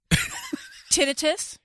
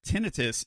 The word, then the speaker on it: tinnitus: Tinnitus? According to the internets, tinnitus is how it's pronounced in British English. Tinnitus is how it's pronounced in American English.